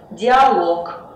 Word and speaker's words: диалог: В неодушевленных существительных мужского рода, который заканчивается на лог, ударение всегда будет падать на последний слог. Например, монолог, каталог, некролог, диалог.